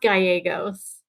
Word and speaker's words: Gallegos: Today we have Ryan George and Gallegos. I hope I said that right. Yeah, With it's Gallegos. What was that? It's pronounced Gallegos.